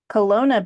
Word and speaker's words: Kelowna: Kelowna? Kelowna, BC.